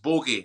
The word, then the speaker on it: Boggie: It's Boggie, but it is pronounced Bogey, as in up your nose.